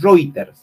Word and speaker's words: Reuters: para ver los comodities este es ritter se escribe routers reuters es una plataforma que